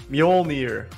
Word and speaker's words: Mjolnir: You know how to pronounce the real thing? Mjolnir.